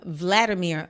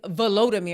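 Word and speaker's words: Volodymyr: in fact talking about volodimir I said his name wrong y'all I was calling him Vladimir like Putin that's Putin is Vladimir but zalinski is volodimir remember I was like it's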